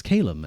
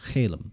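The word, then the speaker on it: caelum: Like calem meaning sky. I think sounds better as kalem and not kaleum or sorry I I turned Jewish Jewish for a second.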